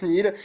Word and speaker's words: Niel: passer à alors ça ça s'écrit Niel mais ça se prononce Nil il me suit depuis